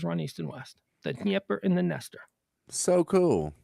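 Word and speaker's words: Dnieper: so d nipper river it's actually pronounced nipper this is the nipper river and the nipper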